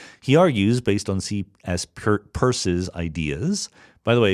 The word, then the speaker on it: Peirce: Peirce's ideas. By the way, if you ever see C.S. Peirce's name spelled, it looks like Pierce, but it's pronounced Peirce, I promise you.